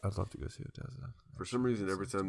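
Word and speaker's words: ODESZA: It's a song by I don't know how to pronounce their name. Odessa. O-D-E-S-Z-A. Yeah. Oh, I like Odessa.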